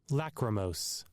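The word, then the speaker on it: lachrymose: Lacrimos.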